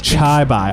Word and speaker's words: chibi: Please look up how to pronounce Chibi. Chibi. Chibi is Chibi. Chai bai. It's Chai bai.